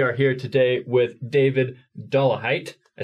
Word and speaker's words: Dollahite: We are here today with David Dollahite.